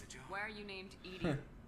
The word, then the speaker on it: EDI: Why are you named Edie? EDI is the phonetic pronunciation of ED.